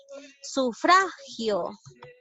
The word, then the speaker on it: sufragio: Gio llega a ser última sílaba y fra llega a ser penúltima sílaba, ¿ya? Entonces sí es una palabra grave.